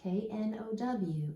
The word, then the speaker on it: know: Did you notice the K-N? The K-N makes the N sound. The K is silent. And then our O-W says O.